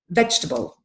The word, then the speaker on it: vegetable: when they say this we say vegetable yeah we don't say vegetable there's no table in this word it's vegetable vegetable and the next one